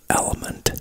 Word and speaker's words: LMNT: I also drink Element, which is LMNT, Larry, Mary, Nancy, Tom, LMNT, which is pronounced element, but that is like a hydrating drink.